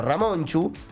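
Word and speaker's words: Ramontxu: Agregarle sobre el final de nombre una T, una X y una U, que en castellano se pronunciaría como una ch. Bueno, Ramonchu también una trayectoria, de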